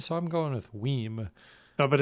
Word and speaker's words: WiiM: So like the Nintendo Wii with an M at the end. So I'm going with WiiM.